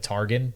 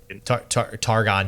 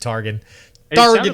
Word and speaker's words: Targon: to also combo with targan to be a control late-game aurelian soul archetype so um targon jeez i don't know why i said target like you tried to pronounce it like dragon yeah i think that's